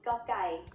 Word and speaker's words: ก: The sound of Gokkai as the initial consonant of a syllable is G. It is very similar to a hard G or an unaspirated K.